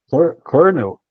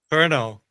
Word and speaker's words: Colonel: Você lembra como é que pronuncia? Colonel. Colonel.